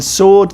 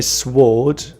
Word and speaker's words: sword: I would say but in sword the W is silent we don't say sward for a sword which